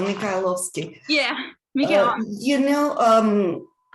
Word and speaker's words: Mikhailovsky: a ballerina with uh saint petersburg makowski i don't know if i pronounced that right peterborough very well very well mikhailovsky yeah miguel you know